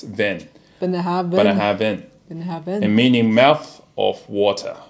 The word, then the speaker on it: Bunnahabhain: The idyllic location ofBenhaben, pronounced Benhaben. It's not bang, it's ven. Benhaben.